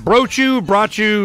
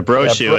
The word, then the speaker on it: Brochu: Brochu, how do you do that? Yeah, Brochu. It rhymes with snowshoe.